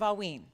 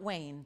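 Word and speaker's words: Haüyne: the world brought together have you heard of aween it is spelled if you want to research it in advance it is spelled h u y n e okay and not Wayne but aen okay just to make sure in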